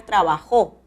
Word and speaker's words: trabajó: O también puedo pronunciar trabajó. El acento va a la última sílaba y es necesario la tilde de la aguda.